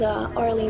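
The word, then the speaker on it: Aurélie: My name is Arlie. It's spelled A-U-R-E-L-I-E.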